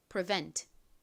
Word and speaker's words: prevent: prevent이 단어도 역시이 뒷부분 vent 부분에 강세가 있어요. 뒷부분을 강조해서 발음해 주세요. 같이 해 볼게요. prevent.